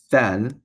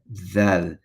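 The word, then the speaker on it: ذال: Now, thal, as written here, is not the pronunciation of thick, not thal, right? Where it's just the tongue sticking out all the way, but thal. You have your tongue sticking out in the same place that you would with thick, but you slide it.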